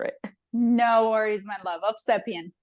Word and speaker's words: Ovsepian: no worries my love of sepan of sepan so I do pronounce the v ah of welcome to